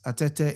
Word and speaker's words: Atete: And uh yes, it's atete. It's spelled at T E T.